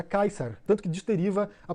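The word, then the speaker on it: Caesar: em latim eclesiástico seria César. Eles começaram a observar nos muros, escrito incorretamente essa palavra, e descobriram que a pronúncia, provavelmente a pronúncia original do latim na antiguidade, era Kaiser.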